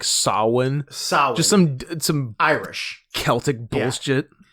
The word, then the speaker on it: Samhain: whatever I hate that it's spelled Samhain but pronounced like Sawan just some some Irish